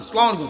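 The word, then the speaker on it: السلام عليكم: না হয় আসসালামু আলাইকুম সালাম দেওয়ার সময় যে সরায়ার আই যে আ উচ্চারণটা এটা যেন ঠিক থাকে আ এরপরে হইলো সিন আসসালামু আসসালামুটা উচ্চারণটা যদি ঠিক রাখতে পারেন একটা নেই পুরাটা ঠিক হয়ে যায় আসসালামু আলাইকুম এতটুকু বললেও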